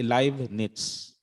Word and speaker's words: Leibniz: Tapos pag sa surname niya, okay? Leibniz. Leibniz. Ano siya? May letter T. Parang may letter T siya. Leibniz.